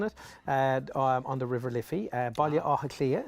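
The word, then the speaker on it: Baile Átha Cliath: Baile Áthaclia is how you say it in Irish.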